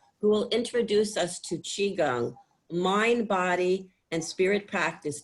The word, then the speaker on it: qigong: So we're going to do about 45 minutes together of an exercise called qigong. It's pronounced chi as in C-H-E-E, Gong, G-U-N-G.